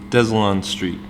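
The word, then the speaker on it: Deslonde Street: the Mississippi and to clarify it is it's pronounced des allanstreet this one Street man there's something more behind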